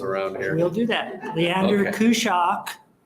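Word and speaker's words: Leander Kuszak: to have you give us your name and spell it first though okay i got rules around here we'll do that leander kushak say it again leander kushak n d e r k u s z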